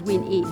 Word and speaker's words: WinE: And that's why we make sure that we pronounce it as WinE, which stands for Women in Economics. It's a network that was